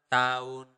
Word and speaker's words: tahun: And last year is tahun lalu. One more time slower, tahun lalu. Okay, tahun lalu. This is also a very interesting note for you guys. We usually do not really pronounce the letter H.